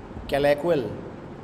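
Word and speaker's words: colloquial: कैलेक्वल, कैलेक्वल है प्रोनाउंसिएशन इसकी, कैल एक विल, कैलेक्वल ये इसकी प्रोनाउंसिएशन है।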